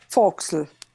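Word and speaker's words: fo'c'sle: sense that's why I think so try it foxel that's it and then well then you get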